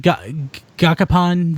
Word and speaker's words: Gashapon: how do you say, is that Gashapon? Gashapon.